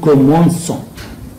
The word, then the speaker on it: commençons: Pourquoi? Pour la prononcer comme S. Nous commençons.